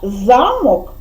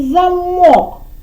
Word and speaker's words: замок: є два слова вони пишуться однаково це слова замок і замок букви однакові але значення зовсім інше замок це